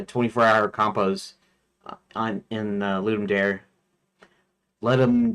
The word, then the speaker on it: Ludum: Let him dare or however it's pronounced. I'll say loomed because that's the way I've always pronounced it in my head even though it's not a proper like Latin pronunciation or something.